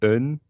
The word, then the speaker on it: een: um only this minor usually een in this form uh would be pronounced as un uh it's kind of